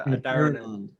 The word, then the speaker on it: Adharanand: So I grew up being Adharanand with the H silent, so Adharanand. Right. But then I've since had lots of lessons from Indian people. It's Adharanand.